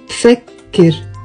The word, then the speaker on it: بفكر: بفكر, two syllables, and بفتكر, three syllables, because these have one translation into English, I think.